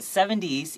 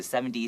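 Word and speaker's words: seventies: And don't forget 70s, even though this word has a T at the end, we usually pronounce these, the 70s, 60s, 50s, we pronounce that T a little bit like a D, okay?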